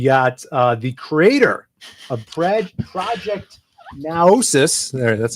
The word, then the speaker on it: Naosis: I think I pronounced it right. For the comic book, so it's Project Naosis. Naosis.